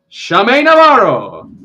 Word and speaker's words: Schume Navarro: guest, our intrepid reporter from the capital herself, Shame Navaro. Praying to God that I pronounced that correctly.